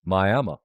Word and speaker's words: Miami: And my grandma's from one of them, which is Miami, spelled like Miami. And anytime I say my grandma's from Miami, they go, "Oh, you're telling the truth. You're saying it right."